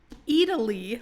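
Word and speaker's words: Eataly: is a new restaurant called Italy, like E A T A L Y, I think is how it's spelled.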